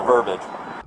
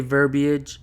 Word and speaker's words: verbiage: just the words the verbage you say tomato I say tomorrow I say verbiage the way it's spelled and pronounced cop says verbage which